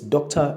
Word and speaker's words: doctor: So it's doctor and not doctor. So the O before the R is the schwa sound.